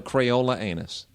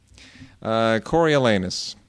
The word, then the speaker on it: Coriolanus: They would call it a Crayola anus.